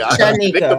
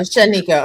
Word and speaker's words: Shanika: Well, I mean, Drip's co-host name, I always say her name wrong. That's why Shanika. I'm about to say Shanika Marie. What happened to that? Okay. No, Shanika. Okay, I'm sorry.